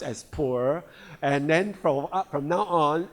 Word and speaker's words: Pu'er: The traditional Puer Tea, and they are Puer Tea in China, pronounced as Puer, and then from now on, Atomy Puer Tea